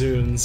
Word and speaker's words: Zounds: But the actual, like, Elizabethan pronunciation is... Is that Shakespeare? Is Zunes.